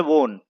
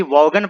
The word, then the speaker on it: Vaughan: का नाम है माइकल वोन, लेकिन उसका स्पेलिंग आप देखें कि वोन का स्पेलिंग किस तरीके से है, VAUGHAN। इसे कोई भी वॉगन पढ़ सकता है, लेकिन दोस्तों इसे वॉन पढ़ते हैं, माइकल वॉन।